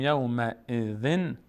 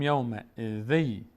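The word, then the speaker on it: یومئذٍ: یعنی به جای اینکه بگیم یومئذ میگیم یومئذی، ذ این کسره دوم که نماینده نون ساکن بود به جاش یک یا میگذاریم. ذی یومئذی، یومئذی یس، یومئذی یصدر.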